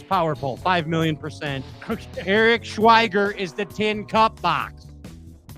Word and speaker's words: Schweiger: Now, the winner, our Box of Fun, Eric Schwager. Schwager? Eric Schwager? Am I saying it right? Is there 2 G's or 1 G? Well, it's IEGGER. Schweiger?